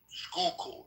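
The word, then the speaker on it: Schuylkill: Skookul. Skook. Skookul, not Skype. No, it's a Dutch word. Skook. Okay. Skookul.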